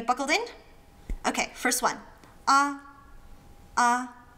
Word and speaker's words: ㄚ: Ah. Ah. Think of a kid who's just been let out for the summer break going, "Yeah." Then get rid of the Y and you have a A.